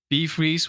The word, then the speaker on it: BVreeze: So, I went through some variations of that, and I eventually ended up with uh BeeFreeze, which is like uh the Dutch word for freeze, or the a possible translation is bevriezen, Mhm.